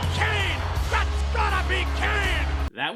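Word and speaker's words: Cain: Your name is spelled C-A-I-N. What's that spell? That's gotta be Kane!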